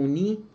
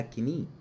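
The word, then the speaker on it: knee: معظم الناس عارفاه اسمه ني جوينت، الكي سايلنت لا تنطق، أوعى تقولها كني، اسمه ني جوينت.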